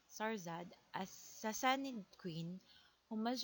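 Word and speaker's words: شهرزاد: In Persian, is pronounced as Sarzad, a Sassanid queen who must relate a series of stories to her malevolent husband, King Shahryar, to delay her execution.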